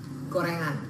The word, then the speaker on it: Goerengan: nah ini tempatnya mirip namanya goerengan atau kalau ya itu ejaan jadul bacanya tetap gorengan ya di sini lu